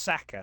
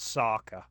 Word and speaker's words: Saka: there is an a player called well it's pronounced Saka not Saka but yeah can I be honest with you